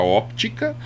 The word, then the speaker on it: óptica: Às vezes a pronúncia óptica ou simplesmente fala Ótica tá o conceito na hora de falar a palavra ele pode suprimir a letra p e quando eu falo